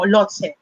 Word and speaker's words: Lhotse: and so on po, Lhotse. What is Lhotse? Actually, sinerch ko pa yung pronunciation niya. It's not Lhotse, but Lhotse. Para daw siyang Lao-tse, Lao-tzu.